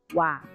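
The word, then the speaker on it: は: Tapi ketika dia berubah menjadi partikel atau disebut partikel, maka pengucapannya bukan H melainkan wa.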